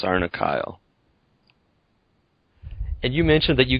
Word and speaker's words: Sarnakle: like rhes with Barnacle but it's it is pronounced sarna Kyle and you mentioned that you got the name